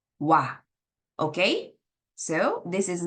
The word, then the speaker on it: は: So when we use ha as a particle, you cannot pronounce this ha, but you need to pronounce it wa.